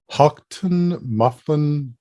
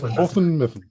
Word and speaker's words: Houghton Mifflin: the way there yeah it's Houghton Mifflin okay uh the best